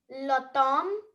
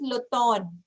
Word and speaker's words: l'automne: And this is l'automne. Okay. M नहीं है ये. ठीक है. Although you see M, but when we are going to pronounce it, so we are going to say l'automne.